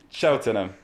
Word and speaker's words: Cheltenham: What you pronounce it? Cheltenham.